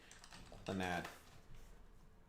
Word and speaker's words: Clannad: Clannad? How do you say it? Clannad? Clannad.